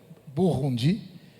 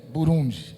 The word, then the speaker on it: Burundi: burundi ou burundi né Tem duas línguas em francês é burundi né e em kirundi é burundi então tem os dois as duas pronúncias e hoje estamos com